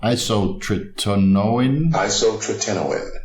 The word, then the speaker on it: isotretinoin: Personally, I tried 10 milligrams 3 times per week of isotretinoin. Isotretinoin. I have to keep reminding myself over and over again to pronounce some of these terms correctly.